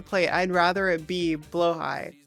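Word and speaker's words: Blåhaj: It looks like it's blahage, but it's blow high.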